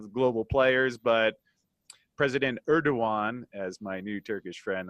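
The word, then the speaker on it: Erdoğan: on size of the global players but President Erdogan as my new Turkish friend Ali says is the correct way to pronounce his name certainly not happy with the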